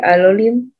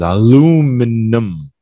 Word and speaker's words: aluminum: Maybe aluminum? Yeah. There's two ways to say this. I think the American is aluminum. Aluminum. We don't pronounce that I.